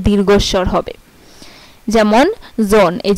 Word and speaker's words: Sohn: যেমন জোন, এই যে SOHN জোন, এখানে কিন্তু এইচ এর উচ্চারণটা হয় নাই, এখানে ও এর উচ্চারণটা হইছে।